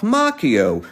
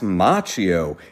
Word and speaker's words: Macchio: Unfortunately, many people, including himself, pronounce his name incorrectly as Macchio, and I'm always happy to politely correct them. As you may already know, in Italian the CH makes a hard C sound, just like Pinocchio.